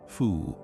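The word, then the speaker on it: 蝠: The Mandarin word for bat, fu, sounds identical to the character for good fortune Chinese letter.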